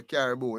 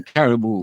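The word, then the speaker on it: Karibu: Oh yeah, them say Caribou, you know? Yes. Them say Caribou when they say welcome in Kenya. In Kenya, them say Caribou.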